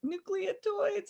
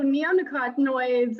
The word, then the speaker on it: neonicotinoids: the use of certain pesticides particularly uh nuclear nucleotides i'm probably saying it wrong and glossophate thank